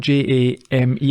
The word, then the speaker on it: Jame: Yeah, and at this point, a distressed-looking woman called Jamie, although it's spelled J-A-M-E. I don't like that spelling. There should be an I in there. That's just Jame.